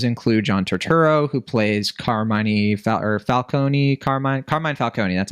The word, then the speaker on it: Carmine Falcone: Some of these mob bosses include John Turturro, who plays Carmine Falcone, that's how you say it.